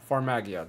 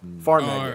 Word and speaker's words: Farmagia: I do not know how to pronounce it. Farmington. Farmagia. There we go. Farmagia.